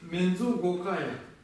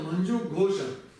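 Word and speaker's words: मञ्जुघोष: Тибетцы ее читают как ка. Получается, манджу, они читают так. Мензу гокая. На самом деле это манджу гоша.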